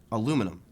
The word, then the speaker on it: aluminum: Aluminum. Aluminum is correct. British people put an extra L in there.